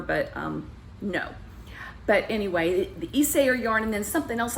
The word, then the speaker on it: Isager: wrong, but it's spelled I-S-A-G-E-R. I think I was saying Isager, and I know the first part was Isay, and I want to say it's Isayer, but it might have been Isager, I don't know.